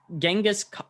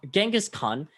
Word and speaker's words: Genghis Khan: so as i said genghis khan genghis khan is kind of the english spelling and english pronunciation of his actual name which is which is mongolian genghis khan just means